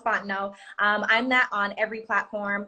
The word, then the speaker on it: Fontenot: So it looks like Ms. MS Fontenot, but it's pronounced Fontenot.